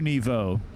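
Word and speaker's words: Nouveau: the channel uh new nevo how do you spell that new like new w and then nevo is niv e-a-u okay it means new level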